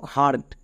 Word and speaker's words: heart: তাহলে next word দেখো, হার্ট, এখানে কি এই সাইলেন্ট? না। কেন? কারণ এইচের পরে দেখো, এইচের পরে কিন্তু ও নেই, ই আছে, তার মানে এইচ এখানে সাইলেন্ট হবে না, তাহলে এখানে আমাদের এইচের উচ্চারণ করতে হবে।